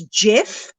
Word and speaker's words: Gef: It was a very squeaky voice that it produced, but it started to speak freely, and it introduced itself as Gef, which is spelt Gef, and it claimed to be an extra clever mongoose born in Delhi, India, in 1852.